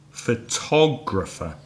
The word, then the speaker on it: photographer: four syllable for civils which one is stressed this time is the second syllable absolutely so did da did photographer photographer and the adjective